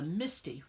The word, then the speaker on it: MISTI: She created the Misty, which is a stamp positioning tool, and it's spelled MISTI for Most Incredible Stamping, MIST.